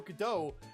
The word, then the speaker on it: Godot: Bligh is related mr. masks pronounced Godot correctly that's cuz it's for Waiting for Godot the stage of two